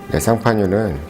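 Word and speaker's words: Champagne: 이제 샴페인은 이제 미국식 이제 영어 발음이고요. 원래 이름은 이제 쌍파뉴입니다. 쌍파뉴는 이제 프랑스의 한 지역 이름이에요.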